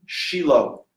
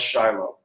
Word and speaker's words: Shiloh: Shiloh, which y'all like to pronounce Shiloh.